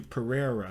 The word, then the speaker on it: Pereira: it's what isn't it pierre p pereira there we go that's how you say it and then you